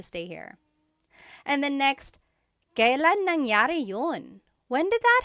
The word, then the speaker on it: kailan: And then just a pronunciation tip, it's pronounced kailan, kailan, but you will often hear it pronounced kailan, kailan.